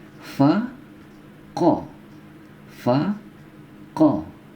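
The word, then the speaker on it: ق: Fa, ko. Fa, ko. Ya, ini ko di pangkal tenggorokan ya.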